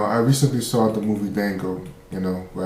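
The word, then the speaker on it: Django: You know, I recently saw the movie Dango, you know, where as they say the D is silent, which reminded me of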